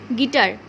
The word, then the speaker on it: guitar: This U will be kept silent.